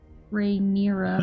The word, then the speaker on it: Rhaenyra: Would Rhaenyra notice though? I think I'm still saying her name wrong. Rhaenyra, that's how Damon said it.